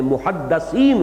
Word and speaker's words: محدث: کے ساتھ سمجھ لیجئے۔ محدث دال کے زیر کے ساتھ، وہ تو وہ علماء ہیں کہ جو علم حدیث کے ماہر ہیں، محدثین، فقہاء و محدثین، دال کی زیر لگائیے۔ اور جب محدث کہیں گے تو دال